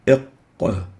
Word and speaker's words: ق: It has no English equivalent and is pronounced إق.